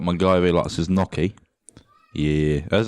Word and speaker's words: gnocchi: Got my guy who likes his gnocchi. Yeah. That's how you pronounce it, gnocchi.